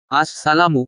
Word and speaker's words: আসসালামু: হাদিস নং 2699 ডট আসসালামু এর শুরুর হামজা এবং মিমের পেশ স্পষ্ট করে উচ্চারণ করতে হবে সালামের উত্তর শুনিয়ে দেওয়া